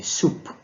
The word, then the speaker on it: sup: is denoted by the soup it's now so we pronounce it as soup soup the same spelling